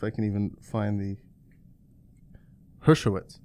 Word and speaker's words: Hershkowitz: let's see if I can even find the Hershkowitz Hershkowitz yeah Hershkowitz yeah okay re herskowitz and just